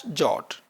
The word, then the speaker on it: JWT: In this particular tutorial we are using the standard JSON web token in short pronounced as jot.